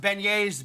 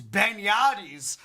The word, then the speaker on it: beignets: He pronounced beignets beignades.